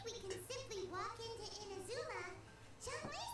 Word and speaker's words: Inazuma: How do you say it? Izunama. Inazuma? Did I misspell that? Did I seriously misspell Inazuma?